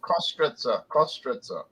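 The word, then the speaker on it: Köstritzer: You pronounce it Kostritza Pale Ale.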